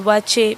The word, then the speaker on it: waakye: correct name of that food is watching this pronounced as watch it because it is a ghanaian food basically from